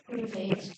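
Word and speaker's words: 北京: 국 경이라고 불경은 중국어로 읽으면 뭐라고 읽죠? 베이 베이징 베이징이라고 읽죠. 예.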